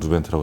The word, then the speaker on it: 누벤트: 누보 벤트라는 단어가 나오더라고요 그래서 그 앞에 있는 발음할 때 이제 스펠링은 유로 되어 있지만 누르라는 단어와 덴트를 합쳐 가지고 뉴벤트라고 저희가 사실 뭐 멤버들이 그렇게